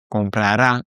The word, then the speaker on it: comprará: Attention, à chaque fois, on va avoir un petit accent sur le A et sur le E de compraré. Comprará, compraré, c'est pour ça qu'on a cette accentuation sur la dernière syllabe.